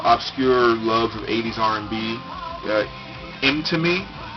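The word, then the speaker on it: Mtume: Imtime, or Imtime, I guess is technically how you pronounce it.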